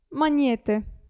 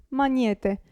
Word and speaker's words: magnete: maglia aglio e maglia abbiamo poi il gruppo gn si pronuncia ni gnomo gnomo e magnete magnete quindi la g non si sente né qui né qui abbiamo il gruppo